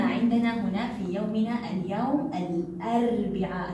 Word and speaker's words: الأربعاء: في يومنا اليوم الأربعاء، لاحظوا أتى معها لام قمرية، لام قمرية، أربعاء، ال أربعاء، ال أربعاء، إذا هو حرف من حروف اللام القمرية، لا أقول أربعاء أربعاء، لا، إنها لام قمرية وتلفظ وأسمع لصوتها، الأربعاء هو حرف من